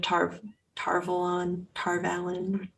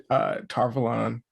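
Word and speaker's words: Tar Valon: I think technically Robert Jordan has said Tarvalon. But the audiobooks say Tarvalon, so it Tarvalon, gets yeah, confusing.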